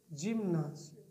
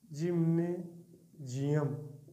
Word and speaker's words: gymnasium: स्वामी विवेकानंद जी का थॉट है, the world is the great जिम्नासियम। World is the great जिम्नासियम। इसको शुद्ध प्योर जो प्रोनाउंसिएशन पढ़ा जाएगा, जिम्नेजियम।